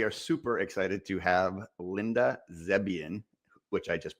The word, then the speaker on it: Linda Zebian: Uh and today we are super excited to have Linda Zebian, which I just pronounced correctly.